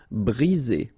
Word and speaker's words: briser: Okay, same thing here. 1 vowel, 2 vowels, and only 1 S between the 2, so you get the sound Z. Briser.